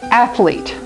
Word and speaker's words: athlete: One example that we're going to use is athlete. Alete in athlete. This E which is silent makes this E say its name.